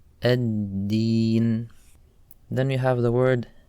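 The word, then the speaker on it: الدين: The next word is ad-Deen. On this word, the letter dal, people often mispronounce as ta. They say at-teen. So when we're pronouncing the letter dal, we don't want any air to come out. So you say ad-Deen, ad-Deen.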